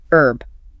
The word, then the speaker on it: herb: American English usually drops the H. Herb. Like herb. Right. British English almost always pronounces it. Herb with the H sound.